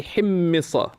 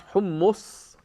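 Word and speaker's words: حمصة: now you hear that it's often pronounced homos etc but this is where you should even words that are commonly used don't assume that the classical pronunciation and the contemporary pronunciation are the same simple keep the dictionaries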